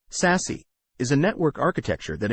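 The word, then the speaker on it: SASE: access service edge or SAS and pronounced sassy is a network architecture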